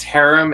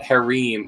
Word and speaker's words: harem: Also, it's pronounced harem in America, but harem in the UK. Yeah. Hadam is the other way I know it's pronounced.